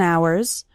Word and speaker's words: hours: as spend hours and hours remember the H in the word hours is silent so don't pronounce it